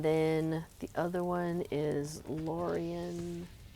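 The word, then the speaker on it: Lórien: And then the other one is Lorien. Oh, you have to put the accent on the O.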